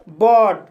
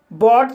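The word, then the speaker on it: bought: जैसे बॉट, बॉट शब्द में OUGH आया है, इसलिए GH साइलेंट रहेगा और OU का उच्चारण O होगा, इसलिए इसे बॉट पढ़ा जाता है।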